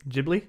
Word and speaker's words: Ghibli: um I Googled it that is how you're supposed to pronounce it Ghibli Ghibli um and it means hot